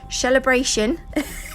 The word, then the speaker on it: Shellebration: I'm also using Shellebration glitter from Now, I did say it right. I haven't got a lisp. Shellebration. It sounds funny.